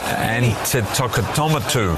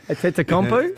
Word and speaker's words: Antetokounmpo: Giannis Antetokounmpo was ejected for headbutting during the Bucks' penultimate regular season game.